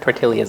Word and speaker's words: tortillas: we're going to prepare prepare our tortillas first tortillas that's how you say it with a light